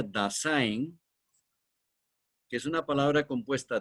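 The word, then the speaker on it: Dasein: su idioma alemán da que se escribe se pronuncia dasin que es una palabra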